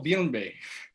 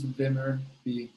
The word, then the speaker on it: Vimmerby: So Cody, how much does, I'm gonna try it again, Malmo Villenbe, or you can talk about previous businesses. Vimmerby. It's just phonetic. What's that? It's just phonetic pronunciation. It's Vimmerby. There's no weirdness.